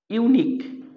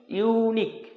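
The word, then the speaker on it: unique: যেমন dash ইউনিক ইউ এন আই কিউ ইউ ই উচ্চারণ কি আসছে? ইউনিক ইউ। এইযে ইউ উচ্চারণ হচ্ছে এই ইউ উচ্চারণ হচ্ছে এজন্য এর আগে যেহেতু এই আই ও ইউর মধ্যে ভাওয়েল তা সত্ত্বেও এর আগে আমাদের এ বসবে।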